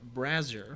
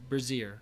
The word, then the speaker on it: brazier: assorted irons roasting in a brasser oof three feet away brazier oh sorry i pronounced that wrong oh no so after